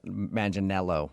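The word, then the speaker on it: Manganiello: Uh, because we talked to him and he told us that a lot of people say he looks like Joe Mangel Manelo.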